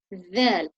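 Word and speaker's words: ذال: Now the next one, you place your tongue exactly there. This time you don't need to leave a gap. You're going to, with a smile, you're going to say dhal. But this time the difference is that you will feel vibrations in your vocal cord.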